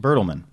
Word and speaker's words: Bertelmann: Am I pronouncing that Bertelmann. correct? Bertelmann.